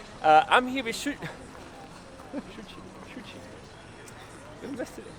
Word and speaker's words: Shuchi: pronouncing your name Shuchi. Shuchi. Shuchi. Yeah. So both like Shuchi. Yeah. Shuchi. Yeah. Sorry That's about okay. that. No worries. People call me.